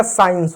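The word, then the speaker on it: science: एस सी आई ई एन सी ई। अब एस का क्या होगा? स हो जाएगा। सी साइलेंट हो जाएगा। आई ई का आई ई हो जाएगा। एन का न हो जाएगा। सी का स हो जाएगा। हो जाएगा। साइंस हो जाएगा।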